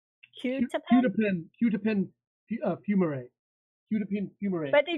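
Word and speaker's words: quetiapine: How do you pronounce it? It's Qutipin fumarate.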